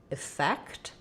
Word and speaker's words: effect: So yes, these are basically pronounced pretty much the same. So what was the effect? And it won't affect me. They both have the I. And then the stress is on the fect syllable, effect.